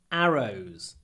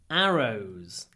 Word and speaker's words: arrows: Arrows. There are arrows on the trees to guide you through the forest. Arrows. Arrows. The stress, ударение, is on the first syllable.